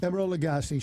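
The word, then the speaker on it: Emeril Lagasse: And help me with the pronunciation. Okay. Emerald Lagasse. Yeah, there you go. Emerald Lagasse, celebrity chef.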